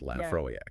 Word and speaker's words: Laphroaig: And the name Lafroe, it's actually Gaelic, pronounced Lafroak.